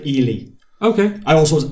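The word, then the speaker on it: Ehle: And I finally learned how to pronounce her name. It's Jennifer Ely. Okay. I also was Ale or Ale.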